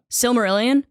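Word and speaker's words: Silmarillion: is that what it's called Maxim Doo what silmer Ilan yeah yeah that's how it's pronounced yeah okay s marilan and it's like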